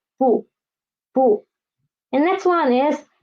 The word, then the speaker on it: 不: And the second character is the neutral tone. We cannot see a tone mark here, so it is a neutral tone. So we should pronounce it soft and quick. So it is 不.